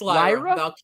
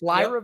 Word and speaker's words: Lyra: You've been saying it very wrong, my guy. It's Lyra. It's Lyra Valkyria, not Lyra.